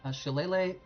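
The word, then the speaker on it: Shillelagh: spells so there's some really good options here she Lele is especially nice and yeah that's how you pronounce that that monstrosity of a name this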